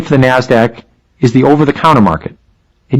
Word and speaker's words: NASDAQ: Today's big two stock markets are the New York Stock Exchange, NYSE, and the NASDAQ, which is pronounced NASDAQ.